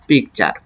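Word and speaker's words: picture: টি ইউ আর ই চার তাহলে কি দাড়াচ্ছে পিকচার ঠিক একইভাবে এখানে দেখো এইযে দুইটি কনসোনেন্ট একসাথে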